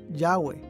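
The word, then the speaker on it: Yahweh: h recientes descubrimientos arqueológicos han indicado que este término debe ser pronunciado yagüe yagüe es a menudo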